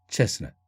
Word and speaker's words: chestnut: chestnut. 크리스마스도 마찬가지 케이스죠. 크리스트마스가 아니라 크리스마스. 이제는 사전에 트 사운드가 없습니다.